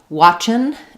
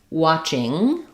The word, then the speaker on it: watching: We have a question about the difference between watchin' and watching. Basically, the correct pronunciation is watching with the NG sound, watching.